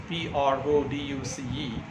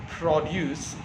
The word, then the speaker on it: produce: For example, the word produce, P-R-O-D-U-C-E, produce is stressed right at the beginning.